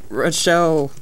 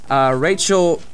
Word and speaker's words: Rochelle: President Marissa Ainsworth, Vice President Rochelle Mendez, Secretary Diana Miller, Treasurer Renee Jennings, Historian Olivia Vasquez, and PR Megan DeFour. Rachel Mendez is how you say that first name.